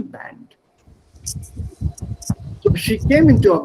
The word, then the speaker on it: Band: of course but since it's a word which has been borrowed from outside of german use the original pronunciation band so she came into